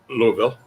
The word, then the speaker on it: Louisville: and his lovely bride he's in louisville not louisville not louisville that's wrong i got told off uh